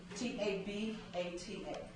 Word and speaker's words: Tabata: again it's less time yes ma'am can you spell that t-a-b-a-t-a Tabata okay it is a 20 minute workout